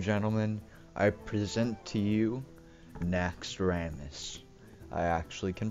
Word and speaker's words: Naxxramas: up ladies and gentlemen I present to you na Ramis I actually can pronounce it correctly because apparently I've been saying